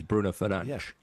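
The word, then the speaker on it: Fernandes: I mean, I think Bruno Fernandez, if you if you pronounce Bruno Fernandez the way it's meant to be in the Portuguese, Bruno Fernanch, that kind of works well.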